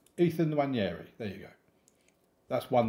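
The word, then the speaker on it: Nwaneri: Van Persie and Saka out wide with Mahara in behind Nwanyeri. That was a strange way to say his name. Ethan Nwanyeri.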